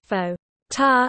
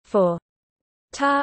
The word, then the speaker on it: forte: would rhyme it with English for French doesn't pronounce the final T. All are standard, however. In British English, fo, ta, and fot predominate, for ta and for ta are probably the most frequent pronunciations in American English.